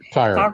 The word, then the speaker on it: Tyre: pronounce it. Yes, Tyre, which is in Lebanon.